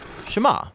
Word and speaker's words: Shema: is here or listen which in Hebrew is pronounced shema that's where the prayer gets its name now